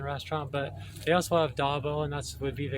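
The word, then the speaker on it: ዳቦ: So Dabo is how you say bread in Amharic, the language they speak in Ethiopia, the language that the Emperor Haile Selassie Rastafari would have used. It's Dabo.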